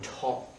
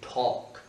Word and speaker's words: talk: When is a good time to talk? Oh, oh, c'est presque un over. When is a good time to talk? Et bien, le L ne se prononce pas comme dans would ici.